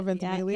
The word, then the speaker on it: Ventimiglia: know how to say his last name, Milo Ventimiglia. Oh, Ventimiglia?